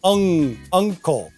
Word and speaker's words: uncle: So with uncle, that's like the past participle of sing, sung. It's like a UNG sound, uncle.